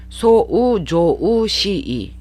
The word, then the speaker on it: 騒騒しい: 대표적인 뜻 시끄럽다로 기억을 해주시고, 소란하다, 또 세상이 뒤숭숭하다, 불온하다 라는 뜻도 기억을 해주시고, 소우조우시이 음가가 4개예요. 6개예요. 6개인데 앞에도 그렇고 뒤에도 그렇고 장음화 현상이 소를 길게 조를 길게 발음하시는 거에 주의하시면서 발음을 해주시기 바랍니다.